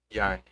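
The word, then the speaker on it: Jāņi: pedir para a Renate falar, para eu não pronunciar errado. Yanni? Yarni.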